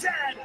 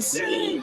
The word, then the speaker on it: said: And it is pronounced said. Not Z. Said.